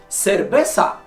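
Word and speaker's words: cerveza: ことを添えればやっぱではなくセルベッサと発音するのはそのためですまだ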